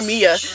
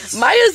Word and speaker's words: Maya: They kept calling her Mia. Maya's the easiest American name you could ever say. Maya, Maya, and they couldn't even say it right.